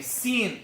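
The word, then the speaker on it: س: First of all, to pronounce these 3 letters, you place the front part or the tip of your tongue at the lower teeth, at the base of the lower teeth, like this.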